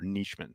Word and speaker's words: Nijman: I want Yosh Nijman in the end zone. That's what, or Neischmann, I guess it's pronounced.